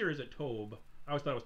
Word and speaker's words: Tobe: Is it Toby or is it Tobe?